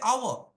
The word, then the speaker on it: hour: do you say how or do you say hour spelling is honest yeah got it so the